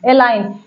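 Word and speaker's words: align: पहला रूल कहता है अगर जी के बाद ए आए तो जी साइलेंट है अगर जी के बाद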